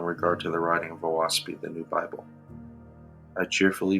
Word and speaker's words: Oahspe: Heavenly history lower books contain contemporaneous Earth history oasi is pronounced o as in oock a as in FA and SP as